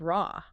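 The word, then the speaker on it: רע: But in Hebrew, the word used there for evil is ra. Right. And phonetically, Ra sounds identical to the name of the Egyptian sun god, Ra.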